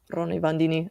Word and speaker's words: Roni Bandini: Roni Bandini. I'm saying it wrong. But No, yeah, you're saying perfect.